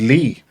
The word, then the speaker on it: Lei: Lei Wulong, or some people pronounce him as Lee.